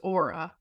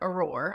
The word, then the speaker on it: Aura: I think one is how you say your company's name which is Aura not auror I think we should